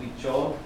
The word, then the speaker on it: Huichol: And as you know from Spanish, the H is silent, so it's spelled Huichol.